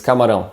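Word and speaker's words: camarão: word is camaro and here we have this sound which is very particular to the portuguese language and one way to explain this sound is it's composed of two basic sounds the first would be a nasal uh sound and the second sound is o and when you connect both sounds and speak it quickly should sound something like oh um the mouse should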